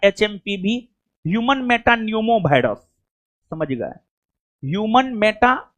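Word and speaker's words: pneumo: Human Meta न्यूमो virus. समझ गए? Human Meta न्यूमो virus. हां हां हां हां ठीक हो नहीं जी यहां पर जो है ना नहीं सुनिए पी साइलेंट है ह्यूमन मेटा न्यूमो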